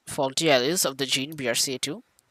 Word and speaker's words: BRCA: There are many different faulty alleles of the gene BRCA2. BRCA, pronounced BRCA.